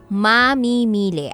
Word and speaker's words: mamimili: magmamarunong ngayon ha okay mamimili I think the correct stress and pronunciation pag noun yyung paggamit natin and we are referring to a person is yung mamimili Okay types of mamimili